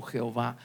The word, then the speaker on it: Jehová: para poderlo pronunciar Pues los hombres le agregaron vocales y es el nombre que pronunciamos como Jehová bendito sea su nombre